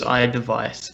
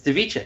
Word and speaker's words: iDevice: thought it was iDevice, but No, whatever. it's two I's. It's not DEV, it's DIV. It's Device. Fair enough.